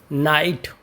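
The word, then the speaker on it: knight: नाइट नाइट में यहां पर हमारा के साइलेंट है और नाइट का अर्थ होता है शूरवीर।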